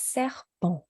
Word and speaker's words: serpent: S, un serpent. Bon. And Serpent, oui, un serpent. Eh bien. Yeah, and just we're going to go over nasal sounds later, but serpent is a good example of, at the end we see ENT, but